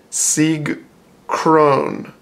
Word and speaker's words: Sieg Krone: my shorts card game this is sig Kron but it says in Japanese G cookironi so they're usually pretty good